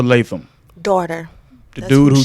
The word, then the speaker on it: Latham: And we've been saying the last name wrong for years. Well, at least I have anyway. I've been It's calling her Sanaa Lathan Lathan. with an N on the end. It's It's Latham, Latham. like Walter Latham, Daughter.